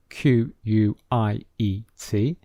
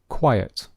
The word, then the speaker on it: quiet: have a similar spelling q u i e t q u i t e very similar but they are pronounced differently so listen to the pronunciation quiet quiet so there are two syllables quiet now listen to